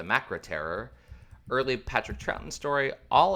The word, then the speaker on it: The Macra Terror: animated uh this one I always want to pronounce the mascara Terror but it's the macra terror early Patrick trouton story